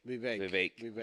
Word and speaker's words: Vivek: Vivek. That's how you say it, like Yeah. a cake.